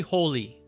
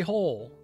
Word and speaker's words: Hole: It's supposed to be Holy. Yes. In Norwegian, it's Harry Holy. Okay, if it's Harry Holy, then pronounce it like that in the movie. Yes. They called him Harry Hole.